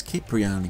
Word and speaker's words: Cipriani: Also, when I first met Tony, his surname was pronounced with a soft C, but in this cutscene it's Cipriani with a hard C.